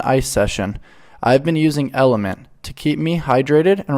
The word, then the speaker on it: LMNT: sword for sure yeah lmnt pronounced element is a tasty electrolyte